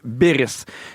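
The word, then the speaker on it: Beyries: Elle s'appelle Beris. OK, mais ça s'écrit B E Y R I E S.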